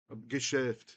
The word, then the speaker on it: Geschäft: Geschäft, say it right.